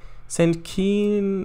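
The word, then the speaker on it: St Keyne: St. Keen is pronounced like Milton Keynes. Or Keynes, except without the S. So like Keynes.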